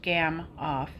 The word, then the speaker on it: Gamow: A gamoff, pronounced gamoff, was invented by Igor Gamoff in the late 1980s and has saved a lot of climbers from dying of hape.